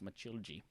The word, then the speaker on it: Matilde: You know, in Portuguese, you spell Matilde as if you would spell Matilda, like it's Mathilda, but it's pronounced Matilde.